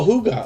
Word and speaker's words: hygge: is that higgy homestead forgive me if i'm pronouncing that wrong uh hygge homestead oh hooga okay i see hygge hobested good to see